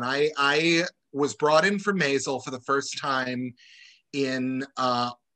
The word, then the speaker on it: Maisel: Well, yes, it's Maisel. I will get it right. Not a problem. But that was really fun. I was brought in for Maisel for the first time in August of 2017.